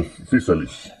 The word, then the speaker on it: Physalis: My Physalis. Make sure not to pronounce it the wrong way.